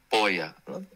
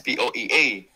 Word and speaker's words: POEA: di ba yung ah sabi ng classmate ko dati poya sabi ko anong poya It's POEA ganon yung pagpronounce niya So POEA ah pag